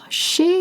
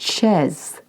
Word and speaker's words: chez: Chez is spelled C-H-E-Z. You can look up the transcript. Chez. It's not chaise. It's chez.